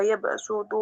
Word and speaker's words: يبسط: Yabsutu ini dalam bacaan situ ada tulisan sin, ya, yabsutu, ya. Jadi tulisannya sod, ya. Kemudian ada huruf sin, ya. Iya, baca. Bagaimana membacanya? Ya. Jadi ada beberapa riwayat itu termasuk dalam gharib ya. Gharib itu artinya bacaan yang khusus di dalam Al-Quran. Maka tulisannya sod ya dibaca sin ya.